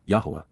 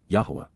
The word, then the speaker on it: Yahowah: achievements, even miraculous fulfillments, Yahowah, Yahowah, the proper pronunciation of the name of Eloah, God as directed in his Torah.